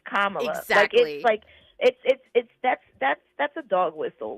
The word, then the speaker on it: Kamala: And I didn't trust him when he like her name is not difficult. It's Kamala.